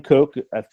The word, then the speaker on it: Koch: a punter before so I I've got Sam Koch that's how you pronounce his name for the Ravens upon her